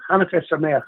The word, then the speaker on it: Hanukkah Sameach: Hanukkah Sameach, we say in Hebrew.